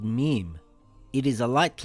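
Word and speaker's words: م: This letter is called mim. It is a light letter. Mim makes a similar sound in English to the letter M in the word moon or the word mouse.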